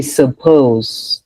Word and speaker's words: suppose: So then that's when you get the schwa sound. It's reduced. So then you say suppose. Suppose. Does that make sense?